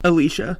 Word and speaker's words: Alicia: Did I not pronounce it right? I thought it was Alyssa. Alicia.